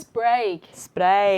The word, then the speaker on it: spreek: Spreek. 2 E's is A. A. Like geen. Geen.